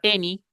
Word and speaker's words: any: Entonces dice así: at the beginning of the words, la palabra any es una excepción. Any.